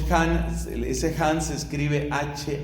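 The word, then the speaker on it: Hahn: por su análisis bíblico él se llama scott skott ahn scott and the hand se escribe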